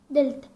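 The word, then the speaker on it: ⲇⲉⲗⲧⲁ: دلتا بتنطق د، ايه بيتنطق ايه ماشي.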